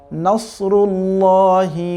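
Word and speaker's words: نصر الله: ইযা জা নাসরুল্লাহি ওয়াল ফাতহ। নাসরুল্লাহ, এখানে কিন্তু সাদ আছে দেখতে পাচ্ছি আমরা, সুতরাং সাদের উচ্চারণ সাদের মতোই হতে হবে, সিনের মতো, যেমন নাসরুল্লাহ যাতে না হয়ে যায়, আবার নাসরুল্লাহ যাতে না হয়ে যায়।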